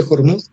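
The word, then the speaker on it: Hormuz: Y si analizamos el estrecho de Hormud, así Jormut se pronuncia en Fars, Fars, el Hormud, tiene 33 km de ancho en la parte más angosta y a veces tiene más.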